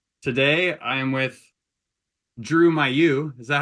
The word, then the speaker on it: Mailloux: I am with Drew Mayu is that how you pronounce your last name Drew uh oh boy I think the actual French pronunciation is like uh yeah May Mayu am I saying it